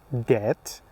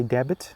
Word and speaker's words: debt: No, they are sometime they are somehow different and they are debt doubt subtle. The B is followed by T in all of them. So you don't pronounce the B.